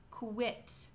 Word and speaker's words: quit: It's two sounds. It's the sound k and the sound u. Like in the words queen, quit, quiet.